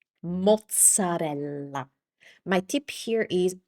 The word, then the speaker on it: mozzarella: mozzarella mozzarella My tip here is pronounce every single vowel. So, don't shorten it up and say mozzarella. Take your time to say every single vowel and the double consonants, too.